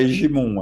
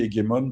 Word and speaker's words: hégémon: Je prononce pas hégémon, hein, je dis hégémon parce que c'est un mot grec.